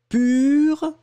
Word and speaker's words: pur: Voilà, le premier, c'est U, pur. Et le deuxième que j'ai prononcé là, c'était pour. Pour, d'accord ? Le premier, pur, le deuxième, pour.